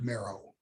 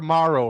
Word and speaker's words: Mero: How do you actually you pronounce it Mero, correct? Mero, yeah. Yeah, simple. Yeah, you were Morrow for about 4 seconds.